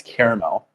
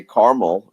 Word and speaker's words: caramel: caramel flavoring in it it's caramel three syllables right yes me too although the middle one is awah caramel right caramel cuz wow you get plenty of Americans who just say caramel as if it were